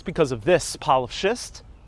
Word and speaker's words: schist: But one thing that isn't a lie is this big pile of schist. Schist, get schist. Don't mispronounce that word. It's very close to another word.